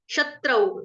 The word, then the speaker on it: शत्रु: क्योंकि आगे जो शब्द हो रहा है वो शत्रु मतलब कि श से स्टार्ट हो रहा है, इसलिए शत्रु।